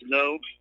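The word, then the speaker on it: Ngo: name is actually pronounced no and the G is silent okay but anyways the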